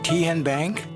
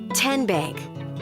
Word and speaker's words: Tenbank: How do you say the name Ken Bank? Nope. Bank? Uh-uh. So, what is it? Tenbank. 10 as in Tennessee.